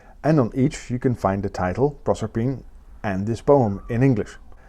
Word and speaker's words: Proserpine: Rossetti so apparently Proserpine has to rhyme with pine, which is why I think rossetti wanted to be pronounced that way.